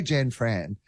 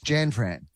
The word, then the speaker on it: Jan Fran: the most is like I say Jen Fran but the way she pronounces it as if it's one name have you noticed that it's Jan Fran she introduces herself as Jan Fran like she's like Madonna